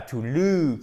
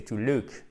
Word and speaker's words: look: donner avec to look, et c'est pas to look, c'est to look. C'est un ou court, d'accord?